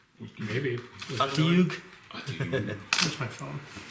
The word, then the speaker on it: Otyug: Yeah, I definitely don't know how to pronounce that. Otyug. Maybe. Otyug?